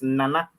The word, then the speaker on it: Nana: So the nanny, the meaning, the real saying is, or the real pronunciation is Nana. Nana. That is the nanny.